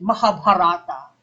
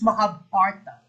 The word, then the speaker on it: Mahabharata: correct um my teacher my professor in up pronounce this mahabharata no he would get mad if we pronounced it mahabharata he said no it's mahabharata okay it's mahabharata okay